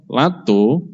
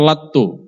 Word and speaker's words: latto: Menurut keterangan Al-Akh Alfi, wafaqahullah, lato itu membacanya lato, T-nya 1 atau T-nya 2? Lato atau latto? T-nya 2, berarti latto gitu bacanya.